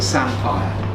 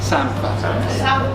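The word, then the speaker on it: samphire: ITV, but him being from Yorkshire calls it Sampire. And it's a bit of a bone of contention, because that's proper Norfolk people call it Sampa. What do you call it? Sampa. Sampa. Yeah, it's spelled S-A-M-P-H-I-R-E, so technically I suppose you might call it Sampire, but we don't.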